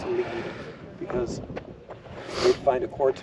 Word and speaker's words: Lead: no I forgot mine the town of lead is called it's spelled l a but it's lead because they' find a